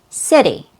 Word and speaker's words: city: So in the American accent, the word city has a fast D sound. It's not a true T sound.